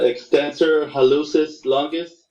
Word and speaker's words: extensor hallucis longus: saying it right so say it again the extensor hallucis longus perfect yes and uh people give you lattice